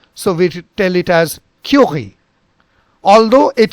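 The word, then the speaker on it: Curie: take it now so we tell it as curi although it sounds at curi if you if you listen to any pronunciation it will come as curi curi but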